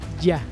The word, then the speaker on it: Ja: aquí hago un paréntesis se pronuncia ya ambas significan lo mismo